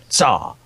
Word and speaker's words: TzHaar: guy who pronounces the TzHaar bit, he goes, TzHaar. Right, so Like, that's how he says it.